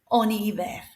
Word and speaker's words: en hiver: The H here works like a silent H, so we've got a vowel after it, the I, en hiver.